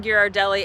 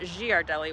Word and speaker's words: Ghirardelli: of the reasons we originally got hooked on geard Deli and it is pronounced geard Deli not Gard Deli which a lot of people say um is